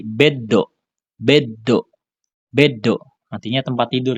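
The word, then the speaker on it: ベッド: Jadi dia mengikuti yang ada di depannya, yang di setelahnya setelah huruf sunya ini apa? Ini kan do ya. Berarti dia akan menjadi beddo.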